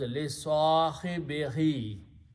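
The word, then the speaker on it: صاحبه: So final word is li sahibi, who, and for the proper pronunciation, Qari will pronounce this who as he. So it's very smooth. So final word is li sahibihi, and that's how the Arabs spoke.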